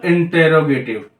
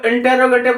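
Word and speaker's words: interrogative: Right, उसके बाद तीसरा रूल आपका बनेगा सिंपल इंटेरोगेटिव। तो इंटेरोगेटिव बोलो, ये इंट्रोगेटिव। ठीक है, इंडिया में इंटेरोगेटिव बोलते हैं, लेकिन मैं ये बोलूंगा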